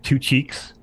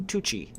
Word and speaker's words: Tucci: this gentle horse sir say his name Sir Patrick two cheeks no no no no Tucci oh there's two cheeks it's like that'll be fun to call it's like an Italian name it sounds like like